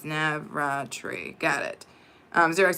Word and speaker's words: Navratri: And Navartre is pronounced as Navratri.